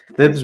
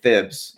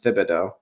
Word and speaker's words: Thibodeau: speak, by the way, I feel like we've been saying it wrong this whole time, and the rest of the world is trying to correct us. I think we're supposed to be saying Thibs and Thibodeau. That sounds way worse, but I think that's the real pronunciation.